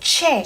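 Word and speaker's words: tjè: How would this word be pronounced? TJE, so ch, right? So che.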